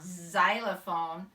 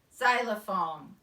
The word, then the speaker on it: xylophone: make an X M it actually doesn't sound like an X ound it sounds like a Z sound xylophone but it's actually spelled